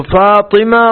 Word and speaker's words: فاطمہ: قا پر جزم ہے یا زیر ہے، اور اس کے معنی کیا ہے؟ تو فاطمہ قا کے زیر کے ساتھ ہے، اور اس کے